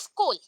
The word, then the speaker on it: skhole: That is called स्कोल, स्कोल, ठीक है, SKHOLE, that is खोल आता है, बट प्रोनाउंसिएशन में स्कोल आता है, ठीक है।